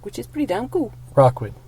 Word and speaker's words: Rockwood: support community programs in Rookwood Park, which is pretty damn cool. Rockwood. I thought I said it right that time. You said Rookwood. Rockwood. How is that so hard? It clearly says it.